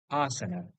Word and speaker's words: asana: Now, interestingly, in English, we pronounce the word asana as asana normally. And interestingly, it is only the first vowel, that is A, having a macron above it in IST, which represents the sound A. The remaining two A are in reality the schwa, so correctly pronunciated as asana.